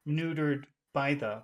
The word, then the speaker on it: neutered: sounds are not important it usually becomes like one word this is you don't have to talk like that but it's good for listening to people so it's not neutered by the but Ned by the neutered by them neuter by the neutered by the new